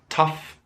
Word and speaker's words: tough: And of course, other words pronounced in the same way with OUGH, tough and rough.